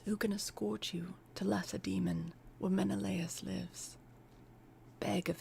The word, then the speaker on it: Lacedaemon: It's spelled like lace demon. But that is probably not how it's pronounced.